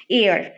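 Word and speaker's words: heir: এইচ টা silent থাকবে এইচ টা কিছু কিছু ওয়ার্ডের মধ্যে এইচ টা সাইলেন্ট থাকবে আর ওই পার্টিকুলার ওয়ার্ডটা যখন আমরা প্রোনাউন্স করবো উচ্চারণ করব তখন সেটা ভাওয়েল সাউন্ড হবে যেরকম আওয়ার অনেস্ট এয়ার তারপর রয়েছে যেরকম অনার্স তো এটার আগে আমরা কি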